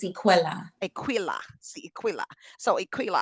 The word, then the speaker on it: Equilla: So now is it I'm I want to make sure I'm I'm pronouncing the L's right. Is it Aquila or Aquila? It's Equila.